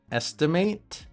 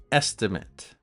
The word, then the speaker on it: estimate: Remember the verb pronunciation is estimate and the noun is it. An estimate.